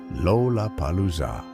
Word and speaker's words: Lollapalooza: And more importantly, it contained not one, not two, but 4 L sounds, each perched at the beginning of a syllable, Lollapalooza.